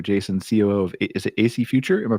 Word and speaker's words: AC Future: guests here Arthur Jason COO of is it AC future am I pronouncing that correct ly yes Brian thank you